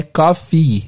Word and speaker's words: cough: escreve porque é incomum cof se escreve c o u g cof tem o GH tem o GH mas o som é de F cof e se você